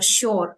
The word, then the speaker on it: shore: saw now this Shore we don't pronounce R here Shore it should be sh